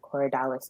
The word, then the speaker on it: Corydalis: Corydalis. Yeah, Corydalis. C So O. Say it C again. C. Cory, so Corey, and then Dallas, Dalis, all one word.